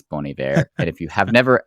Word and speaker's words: Bon Iver: learn how to pronounce Bon Iver. And if you have never actually said that out loud, it took me a long time to realize it was Bon Iver and not Bon Iver, which was the way